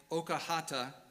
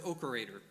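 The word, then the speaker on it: Oakerhater: originally pronounced something like Okahata, which means making medicine. I've heard his last name pronounced various different ways by different people, but what I've mostly heard is Okerator. So that's what I'll go with, although also he's sometimes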